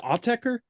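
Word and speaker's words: Autechre: Aucher? Aucher? Is it Autecker? That's it.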